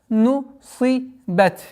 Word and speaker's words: نُصِبَتْ: джибали кайфа нусибат. Нусибат. При остановке то же самое применяем, выделяем звук Т.